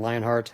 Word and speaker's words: Lionhart: it that, at Lionhart. That's H-A-R-T, not H-E-A-R-T. I had to switch my pronunciation of the last name when I switched over from Odin to Gilgamesh back in 2014.